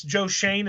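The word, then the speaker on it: Joe Schoen: you know I like him um guy named Joe Shane it's spelled Sheen but it's Joe Shane is how you pronounce it I think it's s c h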